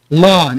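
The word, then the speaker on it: Lohn: I want you all to say the word lawn. It is, of course, spelt like John, but with an L.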